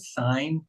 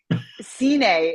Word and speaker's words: Cine: You know, the the first song is it called sign? Is that how it's pronounced? I It's funny like No, it's Well, it's funny it kind? Cine is what we say.